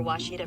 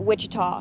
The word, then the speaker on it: Ouachita: Searching for Washita Baptist University. Back in Texas, everybody pronounces it Wichita, but really, it's Washita.